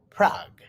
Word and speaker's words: Prague: the capital of the czech republic is prague pronounced prague it is a very old european city there